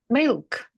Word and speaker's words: milk: Milk. Yeah. There needs to be some kind of treatment of the L. Otherwise, it would be Mick.